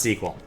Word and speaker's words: SQL: I said sequel. It is pronounced sequel. They're pronounced the same in America. I don't know why they do it over there, but they're literally pronounced the same. SQL and sequel are one and the same.